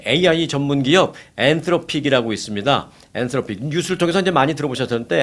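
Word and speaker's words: Anthropic: 엔트로픽 뉴스를 통해서 이제 많이 들어보셨는데 한국 뉴스를 통해서는 이제 엔스로픽 뭐 이렇게 얘기하는데 TH 발음 우리가 싫어하는 TH 발음입니다.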